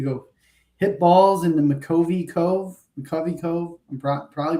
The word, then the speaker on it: McCovey Cove: You have the opportunity to go hit balls in the McCovey Cove. I'm probably pronouncing that wrong. No, you're right now. McCovey Cove, yeah.